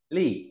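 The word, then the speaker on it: 力: Tiếp theo, bộ lực nói về sức lực ta đọc là gì? Lì, đọc mạnh thế nào?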